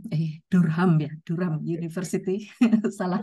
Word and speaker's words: Durham: dari Eh Pak Dr Erwin Nugraha dari eh darem eh durham ya durham University salah pronunciation durham University dan juga eh resilient development